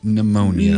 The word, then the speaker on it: pneumonia: number two twins formal that's emotion a word is spelled God's green earth is the letter P you do it in the word pneumonia pneumonia so number two Twain's formal education was